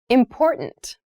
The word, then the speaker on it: important: The pronunciation of this word, that first T, is actually reduced. It sounds more like a D in fast speech.